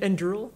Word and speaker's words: Anduril: Well, I know the word, but how I pronounce it, I have no idea. Anduril, I think.